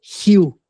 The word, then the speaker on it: hue: Eso es un wheel, una rueda, y se le dice hue, H-U-E, igual que como se pronuncia human.